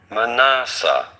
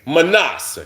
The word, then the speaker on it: Manasseh: Manasseh. Manasseh. I do want to stress on the second. Manasseh.